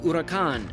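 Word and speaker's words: Huracán: was the very confident driver of a Lamborghini Huracan and yes that's how you pronounce it they pulled up next to each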